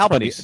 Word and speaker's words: Albanese: Is that how you say it? That's Albanese.